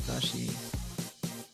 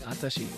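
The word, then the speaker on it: わたし: I mean, the word watashi isn't even pronounced watashi. Yeah, it's not. Yeah, it's. They're saying. If you listen closely, they're saying atashi.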